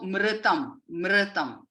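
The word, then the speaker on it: मृतम्: Again, it is when we roll the tongue and touch the tip of the tongue to the roof of the mouth. That is the way we pronounce that. So mritam.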